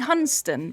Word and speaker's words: Hunstanton: It's apparently Hunston, but it's spelled Hunstanton. It is F.